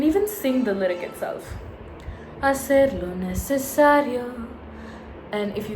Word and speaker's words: hacer: But I don't say, hacer lo necesario. I never sound out the H. It's always, hacer lo necesario.